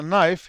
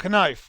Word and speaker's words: knife: عندنا باللغة الإنجليزية مثلا نايف يكتبوها KNIFE، كي موجودة بس لا يلفظوها، بس ما في هناك أي إشارة تعلم القارئ أنه لا تلفظها. ممكن واحد يدور مرة يشوف إنجليزي يقول لك كنايف، بس واحد يضحكون الإنجليز عليه لأنه كي لا تلفظ.